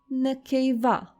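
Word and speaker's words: נקבה: Nekeva.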